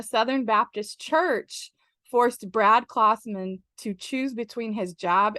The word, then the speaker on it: Klausman: It's like Santa Claus. It's Klausman.